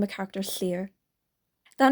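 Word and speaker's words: Llyr: oh my God I'm gonna name a character Slayer that name is spelled l l y r and I'm not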